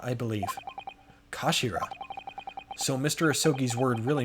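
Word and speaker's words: 頭: end of the hilt it's written as head in japanese but it's pronounced as kashira i believe kashira so mr ahsoki's word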